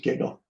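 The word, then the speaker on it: GGQL: so it's a called giggle it's U Uhn G gql we just pronounce it giggle that's pretty funny but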